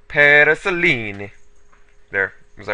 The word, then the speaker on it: Paraselene: the paraselene or oh paraselene I remember the comment about it he said I have to say it like an Italian so parisel there was that right